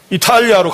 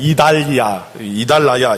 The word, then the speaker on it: 이탈리아: 자, 이 성경이 좀 옛날 성경, 그러니까 중국어하고 이게 섞여 있어서 발음이 좀 독특한 게 많아요. 이달라야. 이게 뭐예요? 이달리아가? 이탈리아, 이태리.